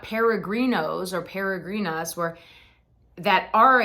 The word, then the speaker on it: peregrino: are pilgrims they're not peregrinos or peregrinas or that are again think of it as a d pedegrino I'm a peregrino peregrina